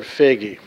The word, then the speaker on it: Foege: have to master is learning how to pronounce the word figgy and if you think